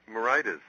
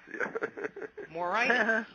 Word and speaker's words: Moraitis: name for me but you said it right moritis moritis well you know I have no phonic skills